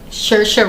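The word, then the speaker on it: Saoirse: her name shersha ronan i know her name because i love to say it it's one of those names that are spelled very difficult but you learn how to say it and then you're like okay because there's no way the spelling doesn't sound like to say the name um so her name is sercia ronan there's this institution where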